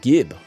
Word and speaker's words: gib: gpu single cpu oh it's a hard g gibb ah rocket jumps corrected he is out there instagib that's it yeah okay i like jib like okay guys tell